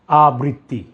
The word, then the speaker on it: আবৃত্তি: এই শব্দের সঠিক উচ্চারণ হবে আবৃত্তি, আবৃত্তি।